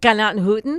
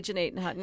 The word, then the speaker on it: Gnadenhutten: Say that the right way. Gnadenhutten. Thanks. Not Gnadenhutten. Well, the locals say Gnadenhutten, and both are correct, but Gnadenhutten. Gnadenhutten is what they say. I can't actually say it the correct way because it's more guttural as Gnadenhutten.